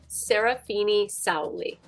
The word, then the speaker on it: Serafina-Sauli: First off, how do I pronounce the full name? Serafini-Sauli. Okay, I'm here with Serafini-Sauli, the filmmaker behind Endless Calls for Fame, the story of the new rising suns.